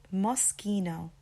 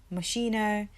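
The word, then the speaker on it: Moschino: mosino moso mosino mosino now growing up I used to hear people say mcho m like mosino um there was lots of different ways that I used to hear this um brand name being said but it's actually mosino mosino so we still have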